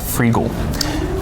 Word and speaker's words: Freegal: And one of the things that we've started to do is subscribe to a service called Freegal. Spell that. Freegal. Free and legal together. G-A-L. Freegal.